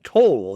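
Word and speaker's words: Towle: misplaced and you know but it's actually uh toll is how you pronounce it and it goes for great money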